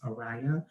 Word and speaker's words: Aryah: me was mariah carey which is where i kind of get my name from to uh at least the pronunciation of it which is aria um she's just i